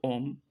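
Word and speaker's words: homme: Şimdi adam normalde adamın yazılışı om. Adam demek. E bu sessiz harf olarak geçiyor.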